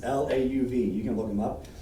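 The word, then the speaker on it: Lauv: don't know how you say his name it's lau v you can look him up and it's a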